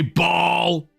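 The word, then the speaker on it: Baal: He's Ball. Oh, Ball's pretty good. Ball. You gotta say it like that as well. You gotta say Ball.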